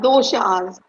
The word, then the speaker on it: dosha: and for you to explain what the word dasas means because a lot of people have no clue that means and I probably didn't even say it right no you said it perfectly that it's called doas so that is the fundamental difference Carly between